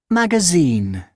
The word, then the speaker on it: magazine: Okay, so it's magazine. Which one do you think is the correct option? Sing. Sin, correct. Magazine, right? In the last part, we have the stress.